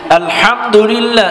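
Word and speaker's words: الحمد لله: হা এখন আসেন সূরা ফাতেহায় আমরা যেটা বলি আলহামদুলিল্লাহ এটা কিন্তু বড় হা যেটা চেপে বলতে হয়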